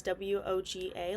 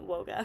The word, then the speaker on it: WOGA: at woga in Texas I've heard some people pronounce it as w GA like the abbreviation um but we're going to be calling it woga for today in July 2023 she confirmed on